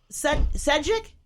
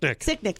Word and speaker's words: Sicknick: A Capitol police officer Sedgwick? I'm saying his name wrong. Sicknick, thank you.